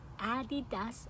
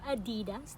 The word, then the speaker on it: Adidas: Adidas or Adidas, depends how you pronounce it.